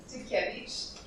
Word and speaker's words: Dukevich: Oh, and then we have, and I'm not even going to try to pronounce, how do you say your last name? Dukevich.